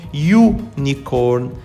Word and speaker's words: unicorn: has anyone ever seen a unicorn you nikon the sound of the u is consonant we use a it's